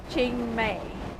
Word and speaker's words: Chiang Mai: I'm from Chiang Mai, I think it's pronounced.